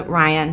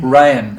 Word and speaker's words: Rhian: actually never met Rhian. Am I pronouncing her name correctly? She goes by Ryan. Ryan.